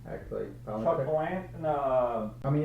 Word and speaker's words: Palahniuk: Chuck Palahniuk?